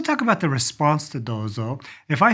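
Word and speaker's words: どうぞ: It's got a long O sound. Dozo.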